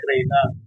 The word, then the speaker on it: Rhiena: Pasensya Reyna pagkarinig labi ko tenga ko Reyna kasi sa pagbigkas lang niya kaya sounds like Reyna. Yes. Yun ang tama.